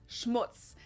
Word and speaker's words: Schmutz: on my list is Schmutz this one is pronounced and used the same way in both languages and it means dirt